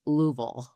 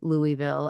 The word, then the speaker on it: Louisville: Well, you said it wrong. It's Louisville. Um, so I was educated by a server one year when I was at this conference and I said Louisville and he said, "No, you have to say it like you have marbles in your mouth."